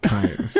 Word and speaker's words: Combs: Is she pronounced Combs, not Coombs? Combs, yeah.